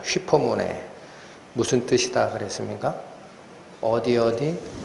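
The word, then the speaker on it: ὑπομονή: 예, 지난주까지 저희는 휘포모네, 워낙 중요한 개념이라 제가 헬라어로 여러 번 발음을 해드립니다. 휘포모네, 무슨 뜻이다 그랬습니까?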